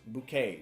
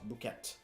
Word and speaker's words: bouquet: pronunciation is of course bouquet not bouquet we don't say the T the t is silent uh and the last